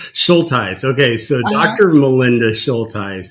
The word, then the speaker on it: Shultice: started uh recording was Melinda, how do I pronounce your last name? Schulties. Schulties.